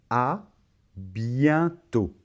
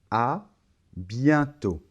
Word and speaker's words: à bientôt: j'en suis sûr et on remarque encore une fois que la lettre t final ne se prononcent pas alors ici la combinaison e et n ça va se prononcer 1 c'est un son à zale à bientôt bon je